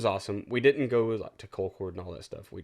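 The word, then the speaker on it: Concord: why i call it call cord there's a little town here south of us called call cord it's spelled exactly the same but you have to put a hick accent on it apparently anyways we didn't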